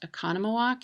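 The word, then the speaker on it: Oconomowoc: the hardest name to pronounce in Wisconsin it's pronounced econom walk and it's in wakashaw County if you ever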